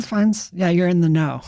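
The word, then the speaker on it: Fiennes: Yeah, it's spelled Ralph Fiendz and you say you say Rayines. Ray Fines.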